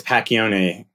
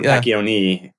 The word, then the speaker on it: Pacchione: or whatever well the the H is silent but the pat yeah like technically it's pachione or pacioni yeah but it just